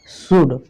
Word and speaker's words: should: नियम 9 में देखिए क्या है, MFKD से पहले आपका जो ये L है ना, L, ये साइलेंट रहता है, साइलेंट रहता है, इसका मतलब चुप रहता है।